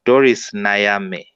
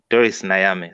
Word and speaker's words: Doris Nayame: I got her name wrong. She's called Doris Nayame. Doris Nayame.